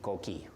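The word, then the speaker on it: coquí: that every night okay it's spelled c-o-q-u-i with an accident on the Ico key you can spell it's pronounced c-o-o-k-e-e cookie so there there were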